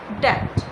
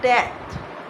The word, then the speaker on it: debt: लेकिन इसकी प्रोनाउंसिएशन कुछ इस तरह नहीं है कि इसमें जो बी आता है वो हम नहीं पढ़ते। बी को क्रॉस कर दो तो क्या पढ़ेंगे? डेथ।